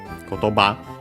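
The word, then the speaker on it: 言葉: As for its accent on the last mora, kotoba, I guess could be because we apply technically the rules of compounds.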